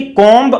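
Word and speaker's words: comb: देखिए कॉम्ब हम बोलते हैं सामान्यतः, लेकिन बी साइलेंट रहता है, कॉम्ब होता है।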